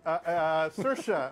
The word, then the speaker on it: Saoirse: We have Saoirse Ronan, I believe I got her name pronounced correctly. Don't ask me. Yeah, Saoirse, I believe, who's starring in this film.